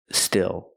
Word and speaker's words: still: last word is still still use the short I like this is it's a more open Sound I I I still plus the dark L still so when I